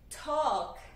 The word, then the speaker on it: talk: Que, apesar de ter esse L, né, escrito aqui, ele não é pronunciado. Então, no início, T é um som plosivo, joga um pouquinho de A ao ser produzido. Então, a gente fala talk.